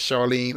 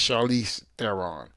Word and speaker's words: Charlize Theron: I always say her name as Charlene. I'm sorry, it's Charlize Theron.